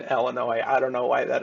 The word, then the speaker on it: Illinois: Illinois National Guard, and the thing that I absolutely love about Convoy is CW McCall's pronunciation here. It's such a rustic thing, is because it's the Illinois National Guard is what he says. And brought some reinforcement from the Illinois National Guard. You just got to love that pronunciation of putting the S in Illinois.